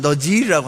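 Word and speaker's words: נזיר: 그 약자가 아닙니다 나하스리는요 히브리어 언어 발음을 하면 너지라고 하는데요 너지 이름 바쳐진 자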